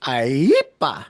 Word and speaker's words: IEEPA: Um, so there are to be clear, Quinta, that's pronounced IEEPA.